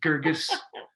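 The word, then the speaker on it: Guirgis: page there you go or that we can mispronounce and have to correct ourselves i'm pretty sure that it's gurgis and nath yeah so once you write a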